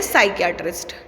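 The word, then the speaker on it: psychiatrist: सीढी टेस्टी मनोरोग विशेषज्ञ इसमें जो है वह साइलेंट है इस वजह से इसको बोलते हैं साइकैटरिस्ट ठीक है आपका रेडियोलॉजिस्ट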